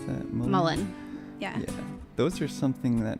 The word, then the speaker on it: mullein: Catnip, skullcap, rose, and how do you pronounce that? Mullein.